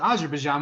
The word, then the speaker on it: Azerbaijan: you pronounce that country wrong it's as she pronounced it Azerbaijan which is the correct pronunciation and the teacher